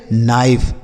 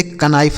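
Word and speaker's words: knife: आगे लिखा है के एन आई एफ ई तो के के साथ एन यहां पर भी लिखा है तो इसे हम पढ़ेंगे नाइफ इसे कनाइफ नहीं एन से न हो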